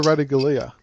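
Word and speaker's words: Ratugolea: What's how you pronounce it? Asava Ratagalia.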